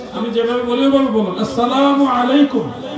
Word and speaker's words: আসসালামু আলাইকুম: আসসালামু আলাইকুম। এখন থেকে এইভাবে সালাম দিবেন। একটু কষ্ট হলে এভাবে দিবেন। ওটা সালাম।